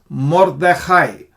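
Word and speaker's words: מרדכי: is morai morai more why are we saying more not more because this is kamat Katan or Kam or something they say Kamas Katan um when there is no stress on this and when the next next letter you know has AA um is a close syllable you say more not Mar it's like not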